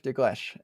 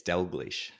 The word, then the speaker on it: Dalgleish: by my friend dees I think I said your name wrong is that right yes it's delish delish cool uh say hi